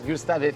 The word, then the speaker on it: Gustave Eiffel: I want to ask you a very specific question about the Gustav Eel. Yes. Firstly, can we get my pronunciation right because it's not it's perfect. The French one is Gustav, right?